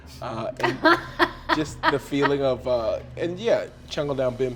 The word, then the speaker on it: Chungle-Down Bim: I liked the most, whose name I can't, Chungle Down Bim. there it is. Sorry, I was too sad to remember any of their names. Chungle Down Bim is spelled CHUNGLE dash DOW and the word